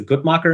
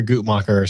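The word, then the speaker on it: Guttmacher: pronunciation is terrible but i guess it's the good mocker institute would you say that anybody i typically hear a goop mocker so yeah okay i think that's right okay so it is a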